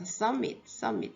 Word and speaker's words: submit: 그리고로 dr 그리죠 dr 그리다 subm네 b n 발음이 안 돼요 submit 제출하다 미 제출합니다 a b 제출해 subm A